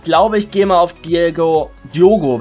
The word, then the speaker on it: Diogo: Aber ich glaube, ich gehe mal auf Diogo, wird er ja ausgesprochen. Also ist ja ein O drin im Namen.